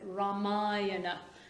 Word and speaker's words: Ramayana: it okay ramai ramayana i'm never quite sure how it's pronounced ramayana ramayana that's it ramayana it's a great book